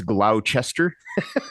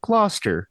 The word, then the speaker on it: Gloucester: And yes, I Googled it to see how to pronounce it because it looks like it's Gloucester.